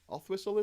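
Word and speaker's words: Oswaldtwistle: Othwhistle, is it? It's written Oswald Whistle, but it's Othwhistle.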